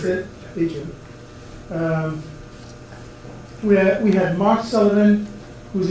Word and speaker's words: Datrium: Datrium, how you pronounce it? Datrium.